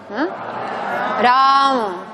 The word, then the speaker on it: Rama: La R no es Rama, es Ra. Y cuidado aquí porque la primera es una vocal larga, pero la segunda es breve. Rama. Rama. Rama. Tiene que notarse articulatoriamente A.